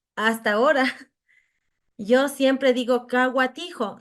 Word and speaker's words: Cahuatijo: ahora yo siempre digo kaa tijo c a h u a t i j O sí sabe pronunciar hu a es gua suena así entonces devolvía esa como